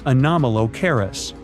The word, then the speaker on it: Anomalocaris: The name is a bit tricky to pronounce, so I'm not going to. Okay. Okay. It's Anomalocaris, but it just literally means unusual shrimp.